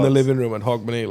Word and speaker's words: Hogmanay: Mate, he I says, just say Hogmanay, like it's H-O-G, I think.